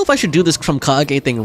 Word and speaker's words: Krumkake: Okay, Krumkage is a real thing. But it looks like, actually, it's pronounced Krumkaka, not Krumkake. Maybe they just didn't want to say the word kaka in there.